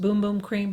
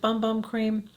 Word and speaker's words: Bum Bum Cream: example would be the i guess i just pronounced boom boom cream but i pronounce it bum bum cream from de janeiro so that i shared a